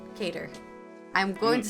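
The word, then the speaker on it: Qatar: FIFA it was reported that's how you say it cater I'm going to say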